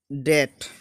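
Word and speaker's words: debt: देख लेते हैं, जैसे कि डेट। अब इसको लोग जाता है डेप्ट बोलते हैं, जबकि डेप्ट नहीं होता, ये डेट बोला जाता है।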